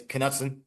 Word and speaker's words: Kutson: I got the confirmation is kutson so you pronounced the K uh because I know we were I think we were saying it wrong um but yeah kutson